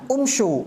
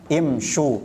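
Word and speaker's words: امشوا: itqu ini dibacanya dan ini dibacanya imsu bukan UMSU ya kemudian yang ketiga Hamzah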